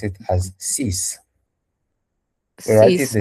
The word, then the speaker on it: six: But in French, when it is at the end of the word, it's going to sound as S.